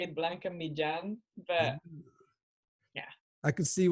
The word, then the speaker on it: Blanca Millan: Because I'm sure everyone calls you Blanca Millan, but what's the actual Spanish pronunciation sound like? It's pretty off, but I just gave up. You actually say it Blanca Millan, but yeah.